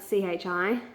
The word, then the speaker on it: chi: In Greek, the letter X is called, well, we write it C-H-I. I think it's pronounced chi.